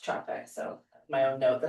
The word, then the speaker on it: Capek: Pronounced um Capek is c a p e k, pronounced Capek.